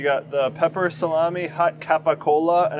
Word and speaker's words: capicola: the pepper salami hot capicola and I think in Italian they don't they pronounce it like gabagool yeah it's like how